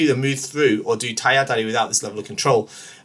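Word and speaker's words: 体当たり: I've heard it a lot, but this misspelling of taiatari, okay, it's not taitari. I know lots of people, especially here in the UK, for some reason, seem to pronounce it as taitari, but it's not taitari. It's taiatari.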